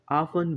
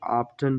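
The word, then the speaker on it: often: वी can also say ऑफ़नर को हम अफन भी बोल सकते हैं ज्यादातर लोग अफन बोलते हैं और ज्यादातर लोग ऑफ्टन ही बोलते हैं लेकिन दोनों वर्ड्स जो हम प्रोनाउंस करते हैं दोनों सही हैं ऑफ्टन मीन अक्सर नेवर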